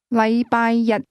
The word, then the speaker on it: 禮拜日: The difference is that the word one used with Monday is pronounced with a high level tone, while the word day is pronounced with a low level tone.